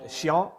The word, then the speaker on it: chiant: that's from the French chiant, so I don't know how to trend. It's chiant. You have to pronounce that with a bit of feeling. Chiant.